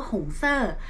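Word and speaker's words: 红色: ว่า สี แดง ใน ภาษา จีน อ่าน ว่า หงส์ เซอร์ ซึ่ง เป็น สัญลักษณ์ ของ ธาตุ ไฟ ค่ะ ก็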